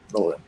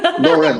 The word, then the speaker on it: Lauren: Business Award, haven't you, Laura? Yes, we have. We're very excited. Sorry, did you say Laura or Lauren? Lauren.